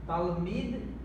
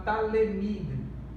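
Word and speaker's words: תלמיד: Nós não devemos falar talemid, nós devemos falar, pronunciar talmid, ou seja, não pronunciamos o shivá.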